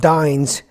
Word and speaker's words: Dyns: The company Dyns is pronounced Dyns.